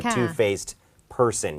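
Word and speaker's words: two-faced: faced He is a Two faced Person อย่าง ต้อง ออก เสียง ด้วย นะ คะ ตัว ดี ที่ อยู่ ข้าง หลัง เนี่ย ไม่ ได้ แปะ เฉย ๆ นะ คะ เพราะ ต้อง มี เสียง ค่ะ อาจารย์ ดำ ใช่ มัน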